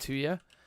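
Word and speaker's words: tuyère: But I'm pretty sure somebody on the live stream once who knew about like the real world of metalworking told me it's pronounced 2 year, and it is basically like a metal tube that you like blow.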